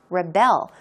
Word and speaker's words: rebel: started to Rebel here it's a verb so the stress goes on the second syllable right Rebel so maybe it's why